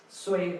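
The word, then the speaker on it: 岁: Soy is the pronunciation of this character.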